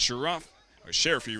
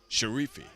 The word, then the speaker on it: Sharifi: on Wen Hill Side Shera sheriffy rather let me correct myself sharifi I believe I was given the correct pronunciation of his name there looking at Bryce